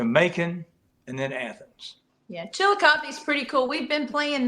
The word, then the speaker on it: Chillicothe: and I can't for the life of me pronounce the one in Ohio. Chillicothe. Chillicothe? Yeah. Chillicothe.